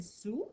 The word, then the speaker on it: sous: Il y a une lettre qu'on n'entend pas. C'est quoi la lettre qu'on n'entend pas? Le S. Alors, on va souligner le S parce qu'il faut bien se rappeler qu'il y a un S dans le mot sous, même si on ne l'entend pas.